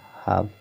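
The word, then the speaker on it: half: ठीक है, और यफ बच रहा है क्योंकि यल का उच्चारण नहीं करना, यफ से फा हो गया, तो हो गया हाफ।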